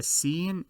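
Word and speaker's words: سين: The seen is the S or the C sound in English, if the C is pronounced as an S, not as a K.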